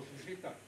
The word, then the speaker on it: Fifita: Oh, I'm looking for Fifita. Who's that? Fifita Fakauka? Yeah, she was here, but she's been transferred back to Middlemore. I left Auckland Hospital, went to Middlemore. I'm here looking for Fifita.